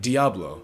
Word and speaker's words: Diablo: Oh hey, Calypso pronounces it Diablo.